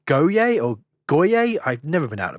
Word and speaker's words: Goyer: In 2001, also a guy called David, I think it's Goyer, I've never been able to pronounce his name. Goya, hey.